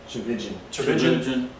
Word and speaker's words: Tchividjian: Mahaney or Tullian Tchividjian, did I pronounce his name right? No. Tullian Tchividjian? Tchividjian. Like religion. Dang it. Thought I got it right that time. Just think religion.